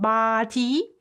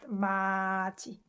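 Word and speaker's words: 맏이: also an irregular pronunciation it's not bhati it's not mati it should be pronounced marchi means the oldest one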